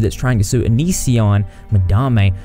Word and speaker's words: Madame: trying to sue Onision, Madame, well, I actually found out her name's pronounced Madam. But I'm just going to keep calling her Madame because that's what my southern accent tells me to do.